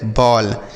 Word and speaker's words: ball: BALL बॉल, BALL बॉल। ALL ऑल, ठीक है, समझ में आ गया ना बच्चों। तो अगर ए के बाद डबल एल रहेगा तो ऑ का उच्चारण होगा, जैसे हमने पढ़ा हॉल, कॉल, फॉल, toll, वॉल, बॉल, आल।